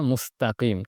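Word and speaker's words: مستقيم: আওয়াজ হবে, সিরাতাল মুস্তাকিম, মুস্ত হবে না, মুস্তাকিম, তা তাজবরতা। এরপর কফ মোটা, মুস্তাকিম।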